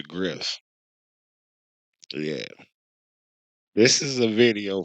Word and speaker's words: Griff: I said his name wrong earlier. I said Professor Gil or some It's Professor Griff.